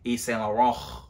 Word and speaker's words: Yves Saint Laurent: You know, when you say YSL, you gotta say it how they say it, Yves Saint Laurent.